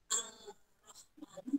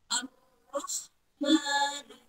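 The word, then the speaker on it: الرحمن: Cara membacanya ar-rahmanu. Jadi bukan al-rahmanu, bukan, tapi yang betul ar-rahmanu.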